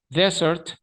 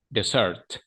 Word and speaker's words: desert: dos verbos completamente diferentes Desert Desert Desert Desert Desert el acento va como en la primera e the Search va en la segunda e y la diferencia Más